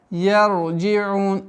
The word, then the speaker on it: يرجعون: Ла ярджиун. Ра здесь произносится твердым образом. Ла ярджиун. Яр, нет, я. Яр. Мягко на твердо уходим.